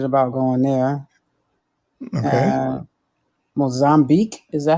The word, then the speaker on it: Mozambique: And Mozambique, is that how it's pronounced? Yeah. Yeah, Mozambique.